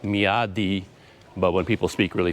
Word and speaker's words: Myawaddy: because a lot of people say it as Miao Lee but he told me no you do pronounce the DS so like me Adi but when people speak really fast they save